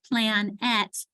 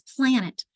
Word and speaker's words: planet: And so where is that accent in planet? It is in that first syllable plan. And if they're decoding and we underline the A and then the E, it's not plan at, it's planet.